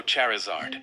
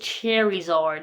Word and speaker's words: Charizard: My hollow Charizard.